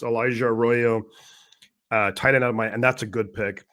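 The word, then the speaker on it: Elijah Arroyo: Sean Alexander completely like butchered his name, but it's Elijah Royo.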